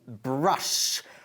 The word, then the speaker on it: brush: Se escribe brush, pero se pronuncia brush. Bajando ahí la mandíbula. Y ojo con la R, porque es brush, ¿ok? Nada de brush, ¿ok? No es la R vuestra, es brush.